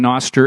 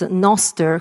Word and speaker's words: Nostr: to everybody not only in Bitcoin but in Noster and this panel is going to be great